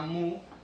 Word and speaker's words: mu: un símbolo, una letra griega que se llama mu, o que a veces se pronuncia también como nu, y que quiere decir el coeficiente de rozamiento.